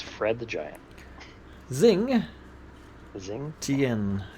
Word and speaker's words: Xingtian: Zing Zing. Tian. Zingtian. I believe that's how you say it. Xingtian.